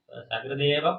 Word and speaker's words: சகிருது: சகிருதேவ பிரபன்னாய சொல்றோம். சகிருது அப்படின்னா ஒரு தடவைன்னு அர்த்தம். அதை சகிருத்துன்னு சொன்னா மாட்டுச்சாணம்னு அர்த்தமாயிடும்.